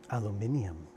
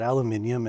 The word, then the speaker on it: aluminium: Um, so essentially aluminum as they say, as the Brits say, isn't it? Aluminum. I really like that aluminium and aluminum. It's not so much that they are like, oh, one's right and one's wrong. Like they're two different words for the same